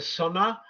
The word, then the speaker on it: Sunnah: Sun connection is very clear, So and also No, the Sunni is a Western pronunciation. mm, Their pronunciation is Sunnah, Sunnah, hmm or As-Sunnah.